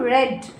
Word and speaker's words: read: week we dash read the pronunciation will change the spelling will not change read will become red we read a fantastic